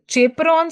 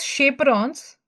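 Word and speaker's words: chaperones: It is chaperons actually but we say we pronounce it as shaperons because they help in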